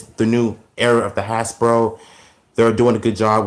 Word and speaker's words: Hasbro: So it's Hasbro, not hash bro, because it sounds like I'm saying hash browns.